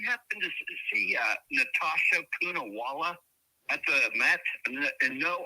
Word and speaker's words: Poonawalla: Poonawalla. Matt. Let's see. I mean, she's like a chameleon there. She almost blends in with everything. Poonawalla. You can't see her. Okay, Natasha. Yes. Oh, it's literally spelled phonetically.